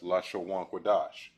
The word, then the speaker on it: Lashawan Qadash: up in the board this is pronounced as la sha one chord all right all together it is pronounced as la shawwan quadash which means in a